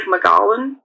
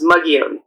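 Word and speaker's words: Mogollon: It looks like McGallan, but I'm um you'll hear a lot of pronunci pronunciations of it, but um the one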